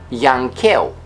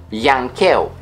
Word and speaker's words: yankeu: of foreign origin, and the pronunciation of W and Y depends on the origin of the word they appear in. For example, darwiniană, darwiniană, Darwinian. Or yankeu, yankeu, Yankee.